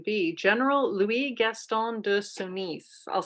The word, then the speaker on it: Sonis: general louis gaston de sonis i'll spell that s-o-n-i-s sorry to my french teachers francis and i decided to pronounce it like that so it's easier for people to understand how we're saying it s-o-n-i-s he was alive between 1825 and 1887.